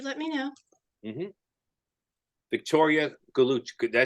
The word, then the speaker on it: Gallucci: Victoria Gallucci. Did I say it right? Gallucci.